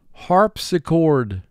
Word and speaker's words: harpsichord: Harp-si-chord. Three syllables. First syllable, harp. Three sounds. H, R, P. Si, two sounds. S, I. Chord, three sounds. K, or, D. Harp-si-chord.